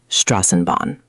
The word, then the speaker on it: Straßenbahn: Die Straßenbahn. Much better. That rolled off much more smoothly. The tricky part is that SS sound, which is like a sharp S.